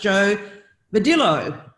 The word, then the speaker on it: Jo Vadillo: We are back with another episode of She Renovates today, and I have my occasional or regular co-host, Jo Vadillo. Did I pronounce that correctly?